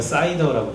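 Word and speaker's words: CIDR: 그걸 우리가 사이더라고 불러요. 사이다, 콜라 사이다, 사이더라고 불러요. 실제로 그렇게 발음해요. 사이더라고. 그렇다고 또 편의점 가서 사이다 시키면서 나 사이더 주세요 그러면은 못 먹겠죠.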